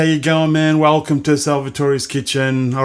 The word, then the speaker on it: Salvatore: YouTube fans how you going man welcome to salvator's Kitchen all right today we're going to do